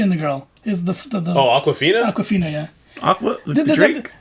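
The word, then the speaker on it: Awkwafina: is Aquafina. Her name is spelled like the word awkward. Is it? It's like AWK.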